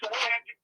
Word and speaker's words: Majik: My name is Magic. That's MAJIKMAN. It sounds like magic phonetically, but it's a J instead of a G and a K instead of a C, sir.